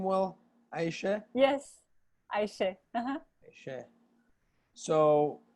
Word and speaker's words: Ayse: I'd love to, Ayse. Please. Am I pronouncing your name well, Ayse? Yes, Ayse.